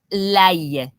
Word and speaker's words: l'ail: L'ail. Okay, hold on, make sure. Yeah, l'ail. L'ail. Now, I'm exaggerating it, but it's important to exaggerate it because we don't pronounce it correctly.